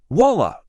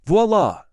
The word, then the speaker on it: voila: Voila, instead of voila. I just can't. Ask. My coworker adds some extra syllables to frustrated.